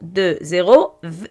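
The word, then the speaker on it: vingt: 25 mars, le mois mars, 2, 0, 2, 0, 2020. Maintenant on écrit 25 en lettres. V, I, N, I1 c'est 1. V1 c'est 20. G, T. 20. GT est muette. Je prononce que 20.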